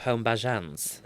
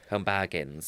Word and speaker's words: Home Bargains: I want to remind people, I do a bit about, do you know the shop Home Bajans? No. Home Bargains.